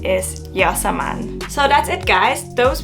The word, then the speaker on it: Yasmine: So fact number 50 is my real name is Yasmine, not Yasmin. I remember back in school no one could pronounce my name.